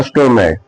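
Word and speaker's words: stomach: जैसे स्टोमक स्टोमक का मतलब क्या होता है? पेट है ना? तो लास्ट लेटर क्या आ रहा है? सी एच। और सी एच का उच्चारण क्या है? का है।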